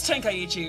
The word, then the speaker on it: Tenkaichi: It is Tenkaichi, and I pronounced it right!